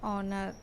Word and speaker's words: honor: In the following words, H is silent, but it begins with the vowel sound, so we have to use an. Examples: an ire, an hour, an honest boy, an honor.